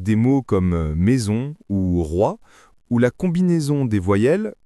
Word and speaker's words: roi: Mais dans roi, la combinaison o i forme un son unique proche de wa.